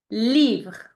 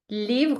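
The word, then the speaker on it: livre: good perfect let's move to the third example leave leave which means book in French leave repeat after me leave your turn Okay a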